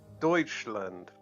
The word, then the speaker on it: Deutschland: same thing and also it's pronounced Deutschland in Germany and they should be facing